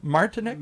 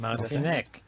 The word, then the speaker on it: Martinek: Tell us welcome if you are This is Martinic. Did I say it right? Yes, you did, Martinic.